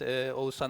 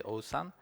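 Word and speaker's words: Oğuzhan: name is Osan Uncle this second letter might be new to you um if you cannot really uh spell it you just replace it with empty string and then it will sound a lot better or closer to the original one so it's a Osan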